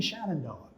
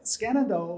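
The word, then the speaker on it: Skenandoa: was peter skenendoa smith well somebody said skenendoa that can't be right it's got to be shannon noah but no skanendo was a native american chief in new york state and that's who he's named after not shenandoah or shenandoah but i don't think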